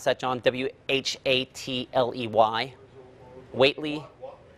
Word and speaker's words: Hatley: Is that the best way to pronounce that, John? W-H-A-T-L-E-Y? Waitley? Hatley.